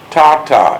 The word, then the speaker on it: Tata: as ma or mama and father was called Tata am I pronouncing that right yeah Tata t a t